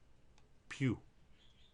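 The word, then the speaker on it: più: in yet for instance if you had the word p I accented you an Italian that's pronounced as pew pew then the other one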